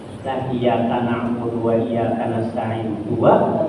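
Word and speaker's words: إِيَّاكَ: Iyaka bacanya iyaka, itu tasdidnya tertinggal. Lah iyyaka na'budu wa iyyaka nasta'in, dua tasdidnya tertinggal.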